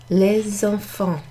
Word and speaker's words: les enfants: So, normally if you're saying V for something plural, it will be written les, which is normally pronounced les. But in front of a noun that starts with a vowel, like enfant, you pronounce the S. So, les enfants.